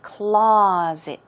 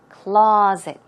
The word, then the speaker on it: closet: it is pronounced it's closet closet okay stress goes on the first syllable and it's more of a Z sound closet closet and what about